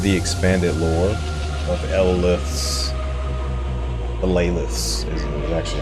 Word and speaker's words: Elaleth: Elaleth's is actually how you pronounce her name. Elaleth's.